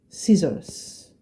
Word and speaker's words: scissors: want to pronounce it it is pronounced as an S okay that is why